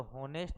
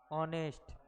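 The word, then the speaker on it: honest: तो होनेस्ट नहीं पढ़ते, इसको क्या पढ़ते हैं, ऑनेस्ट। ऑनेस्ट पढ़ते हैं, इसीलिए एच किसमें साइलेंट है, ऑनेस्ट में।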